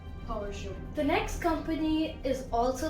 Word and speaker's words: Peugeot: The next car company, it's quite confusing and I generally used to pronounce it wrong, but it is Peugeot. Peugeot. Now, I know many people say it as Peugeot, Peugeot. No, it's Peugeot.